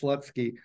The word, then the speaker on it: Slutsky: Slutsky, his name is spelt like this, though, with the U, like this, Slutsky, but it's pronounced Slutsky.